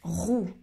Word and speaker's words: roue: Ok, maintenant la différence entre ces deux mots, rue, rue, rue et roue, roue. C'est un peu difficile à écouter.